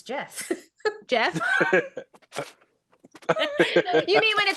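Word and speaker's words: Geoff: know I just I just learned how to pronounce g off it's Jeff Jeff you mean when it spelled g e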